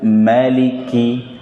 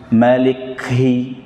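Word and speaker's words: مالك: Maliki, maliki, tapi jangan berlebihan. Malikhi, tidak. Malikhi, biasa aja. Karena kaf ketika disebutkan, ketika diucapkan sudah ada hams atau aliran nafasnya, tanpa berlebihan.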